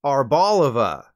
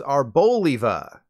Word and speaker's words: Arboliva: based around an olive I thought it was called arbolova nope its correct pronunciation is arboliva that's because it's a combination of Arbor freedom and Olive and I guess the